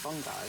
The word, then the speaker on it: fungi: family of mushrooms funi if it's actually pronounced funi I don't want to say it anymore I'll just say Mushrooms I will make sure I never need to use the word fungi ah fungi it's fun guy cuz then you can